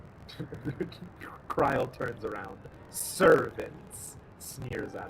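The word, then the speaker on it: Krile: how they named her cryle rhymes with trial just like Hannibal and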